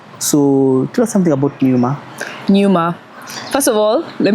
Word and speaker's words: Pneuma: a so everyone's like puma puma it's numa it's numa yeah yeah so numa basically silent p silent AC formed.